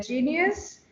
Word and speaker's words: Geneus: hello everyone today we have with this olivia genius who is a phd candidate at the university